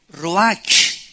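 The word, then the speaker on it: רוח: entonces la palabra hebrea Roach que se pronuncia Road la ch en el hebreo se pronuncia como j y que es la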